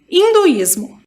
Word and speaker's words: hinduísmo: que vem esse termo hinduísmo. As palavras hindu e hinduísmo são escritas com H, e como na língua portuguesa essa letra não tem valor fonético, ela não é pronunciada.